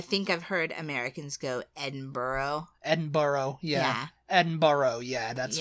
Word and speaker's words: Edinburgh: of as you said and it's Edinburough Edinburough yeah yeah Edinburgh um I think we say Edinburg edenburg yeah edenburg Edinburg